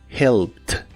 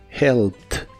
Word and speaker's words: helped: La H se pronuncia como una J suave y la ED que se le agrega al final se pronuncia como T. helped, helped.